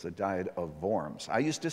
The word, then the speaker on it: Worms: recap now it's spelled w-o-r-m-s we say worms actually in german the w is pronounced like a v so it's the diet of vorms i used to say